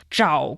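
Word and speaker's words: 找: And when it comes to job hunting, which is the season of job hunting for many, many graduates around the world, it's zhǎo gōngzuò.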